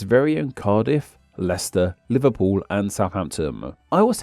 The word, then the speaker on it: Leicester: The state gives the US its very own Cardiff, Leicester, Liverpool, and Southampton. I was happy to see that New York's Leester is pronounced the same as ours.